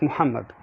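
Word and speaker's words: محمد: have the letter ha ha is basically a heavy h so for instance when you have a name like muhammad like prophet muhammad peace be upon him you say muhammad not muhammad but you say muhammad or the name ahmad ahmad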